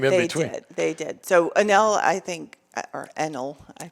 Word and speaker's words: Enel: I remember Enel. I didn't know they sold and somebody else came in between. They did. So Enel, I think, or Enel, I pronounce it.